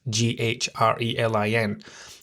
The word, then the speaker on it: ghrelin: Okay, your ghrelin goes up, leptin goes down. Now, I'm going to tell you the easy way that I remember these, right? Ghrelin has a silent H in it, Ghrelin.